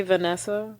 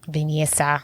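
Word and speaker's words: Vinessa: and then I think this is supposed to say Vanessa venessa venessa venessa that's literally how it's spelled oh I okay I don't know I'm justess oh wow but that's it's spelled v i n e SS a venessa vena Shaw plays Allison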